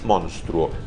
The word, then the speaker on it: monstruo: Monstruo. Pero lo escucho en toda Latinoamérica y es monstruo. Así como se escribe. Si uno lee lo que está escrito, dice monstruo.